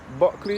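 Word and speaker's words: Bulkeley: Buckley is spelled B U L K E L E Y.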